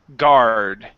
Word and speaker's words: guard: good this one here instead of gu the U does not uh is not pronounced okay so the word is only guard so this is security